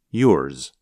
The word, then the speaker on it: yours: Instead, it's more like a Z with a little S at the end. Yours.